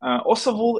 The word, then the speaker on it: Osavul: of international what we do as a company osahul is also is correct like pronunciation it's a term from Ukraine history it